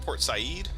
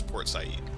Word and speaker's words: Port Said: in Turkey is it port Sayid is that how you say it it says port said' but I'm pretty sure it's poor Sayid Suez Canal Red Sea